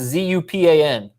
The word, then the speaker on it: Zupan: now okay chris zub how would you guys pronounce z-u-p-a-n zupan okay great chris zupan congratulations you're